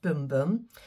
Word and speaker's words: Bum Bum: so de Janeiro Brazilian boom boom cream it says bum bum but it's pronounced boom boom and this is the